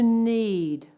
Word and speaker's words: knead: To need to knead. Don't forget K is silent.